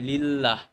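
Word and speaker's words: لله: আমি বলতে পারি কি লি প্লাস আল্লাহ তখন কি হয়ে যাবে লিল্লাহ উচ্চারণটা কি হচ্ছে লি আল্লাহ আমি আত উচ্চারণ করবো না এটা তো এমনি হামজাতুল বাদ যাবে লিল্লাহি তখন আমরা এটা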